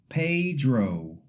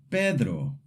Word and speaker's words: Pedro: A common mistake is saying it like pedro, sliding the vowels. In Spanish, the e is a pure e sound and the o is a pure o sound.